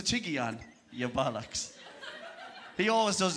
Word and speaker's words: Tiguan: dropped a big one a tiguan i don't think so it's a tiggy ann you're balax he always